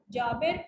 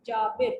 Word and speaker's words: Jabir: Then next is Jabir ibn Hayy. How do we spell? How do we pronounce it? Jabir, Jabir, Jabir ibn Hayy.